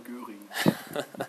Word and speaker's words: Göring: Say his name in German. Hermann Göring. He does it so much better than me, but I try.